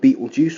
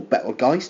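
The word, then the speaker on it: Betelgeuse: orange star here is called Beetle Juice or balge depending on how you will pronounce it that's one of uh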